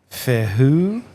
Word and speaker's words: Fehu: It kind of looks like an F too, and I think it's pronounced Fehu. Is how you pronounce that letter. Fehu.